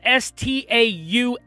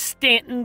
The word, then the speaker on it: Staunton: and birthplace there in stanton virginia it is spelled s-t-a-u-n-t-o-n but it's not pronounced staunton it's pronounced stanton virginia i actually visited